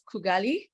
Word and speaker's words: Kugali: everyone who doesn't know kugali um so it's pronounced as kugali um so we are a company that we're